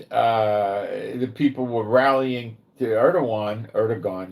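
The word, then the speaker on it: Erdoğan: people were rallying to Erdogan, you would say, but it's Erdogan, I believe, in the pronunciation.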